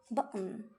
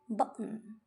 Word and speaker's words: button: So, instead of pronouncing a clear T sound, you cut the airflow suddenly.